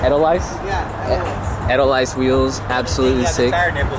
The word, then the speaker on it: Edelweiss: I can never pronounce it. Edelweiss. Edelweiss? Yeah, Edelweiss wheels.